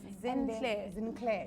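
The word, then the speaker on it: Zinclair: clay bow tea yes sinclair yeah let's spell it for them real quick because it's not rosenthal yes yeah it's z-i-n c-l-a-i-r yes oh girl yes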